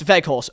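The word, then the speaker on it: Weghorst: people say different names it's veg horse so without vehicle so in dutch they pronounce um like the w's as v's so imagine it as like a v vehicle so without vagus um do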